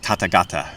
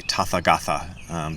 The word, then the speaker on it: Tathagata: It's supposed to be pronounced hatha, like Tathagata is. People say Tathagata sometimes. That's another name for Buddha. But the TH is supposed to be pronounced like a T sound.